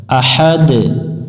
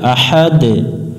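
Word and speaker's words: أحد: দুই সাকিন বলা হয় আহাদ এখানে কলকলা করতে হবে আহাদ কুলহু আল্লাহু আহাদ দ্বিতীয়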